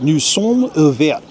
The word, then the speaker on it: nous sommes ouverts: This says, nous sommes ouverts. And that's how the French pronounce it. Nous sommes ouverts.